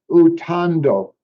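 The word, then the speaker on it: uthando: The R, the way you pronounce like the center syllable, ta, Mm-hmm. um, the what you've written is tar. Right. So it'd be more like TAH, ta. So utando There you go.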